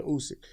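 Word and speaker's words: Usyk: fact if you remember I said his name wrong Alexander usick is his name if you remember when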